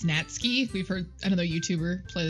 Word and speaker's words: Natsuki: and Yuri opens closet I have such a hard time not a saying Netsky so yeah we apparently have realized we've been saying her name wrong it's Nats key we've heard another youtuber